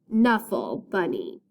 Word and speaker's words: Knuffle Bunny: with the book called canuffle bunny it's pronounced knuffle bunny so we hear the k sound in the first part of bunny's name like i said mo